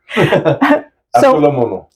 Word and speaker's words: Avgolemono: Okay, so here we are in the kitchen, and we're getting ready to make our Avgolemono soup. Did I say it right? Yeah. Kind of, sort of. Avgolemono.